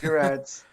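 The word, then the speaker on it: Gerads: What'd you think of Gerard's art? Or Gerard's? I always forget how to pronounce Gerard's, it's a hard G. Gerard's.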